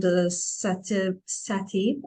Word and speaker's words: SATIB: Likewise, you're the creator of South Africa's newly launched Secura Traveler app and SATIB. Am I pronouncing it right? Yes, SATIB, SATIB going.